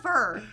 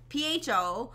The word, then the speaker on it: pho: first soup I'm like it's not fur it's pho and they pronounced it fall anyways Jenna like said